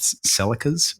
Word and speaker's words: Celica: They started off with, sponsored always by Toyotas, they started off with Celicas, or although I guess, Ross, can you please pronounce that for me in the native tongue of your, thank you.